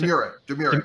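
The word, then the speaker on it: Domurat: How you pronounce it? Demurret, yeah.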